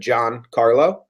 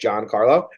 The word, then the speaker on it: Giancarlo: pronounced Giancarlo Stan's name I just said John Carla say just Giancarlo and that's great that's